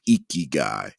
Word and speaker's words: ikigai: review for those who have never heard of iki guy definitely look it up it's a wonderful philosophy japanese philosophy it's spelled i-k-i-g-a-i and so essentially what it is